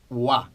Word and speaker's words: は: como ya hemos mencionado aunque se escribe con el jira gana y cuando se usa como partícula se pronuncia guau ahora qué función tiene